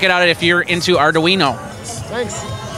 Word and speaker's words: Arduino: If you have any questions on Arduino, I'm getting used to that.